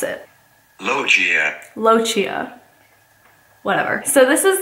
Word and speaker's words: lochia: How do you pronounce Lochia? Not Lagia. Probably shouldn't do that because I have to ask how to pronounce it. Lochia.